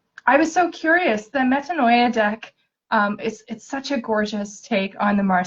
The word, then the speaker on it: Metanoia: those decks um the waterless collection and the metanoi did I say that pronounce it yeah I know I have the